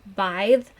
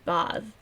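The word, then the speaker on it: Badb: In Old Irish, it would be pronounced Bive, with like a hard th at the end, or not. No, it would be Bav, not. There would be no I in there.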